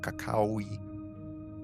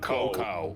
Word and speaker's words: cacao: I mean, that's how you say it in, like, anywhere that isn't here. We just go, Yeah, we're like cocoa.